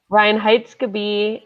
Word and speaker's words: Reinheitsgebot: Reinheitsgebot Ash, which they wouldn't let me put my actual title in Instagram because it's Reinheitsgebot is my Yeah.